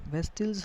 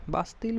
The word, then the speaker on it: Bastille: बेस्टिल्स हर किसी को नफरत थी. बास्तिल बोलते हैं कई बार, बेस्टिल बोल देते हैं, प्रोनाउंसिएशन के अकॉर्डिंग.